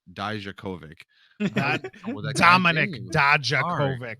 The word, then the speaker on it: Dijakovic: Dojovic I'm sorry, Dijakovic.